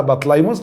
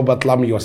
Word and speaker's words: بطليموس: احنا اتفقنا ننطقها بطليموس او بطلميوس، اخد راحتي بقى.